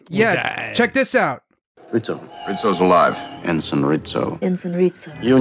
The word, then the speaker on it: Rizzo: Rizzo Rito Rito Rizzo first I thought they were saying ritso but then Uhura said Rizo and then I realized they were all saying Rito but or pronounced it most read Zoe everyone else was like Ritz ritzo that's the